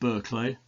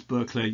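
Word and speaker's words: Burghclere: archery of All Souls I think it's pronounced berlay um I've heard it pronounced many different ways berlay is a village uh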